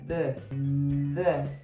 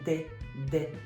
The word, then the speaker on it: the: O som ele tá aqui, ó, tá meio anasalado, tá bem aqui na frente, tá? The. Tem muita gente, né, muito brasileiro que tem dificuldade de som TH e fala de.